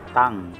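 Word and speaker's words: 땅: Kaya ang bigkas po nito ay tang.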